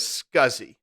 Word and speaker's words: SCSI: computer system interface SCSI which most people pronounced as scuzzy so they would refer to a scuzzy drive so the scuzzy drive was much much